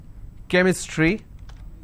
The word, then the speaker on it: chemistry: but when i have the word chemistry ch becomes ker sound so i say chemistry